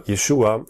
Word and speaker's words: Yeshua: suffering of Jesus or Yeshua as his name is pronounced in Hebrew is already foreshadowed within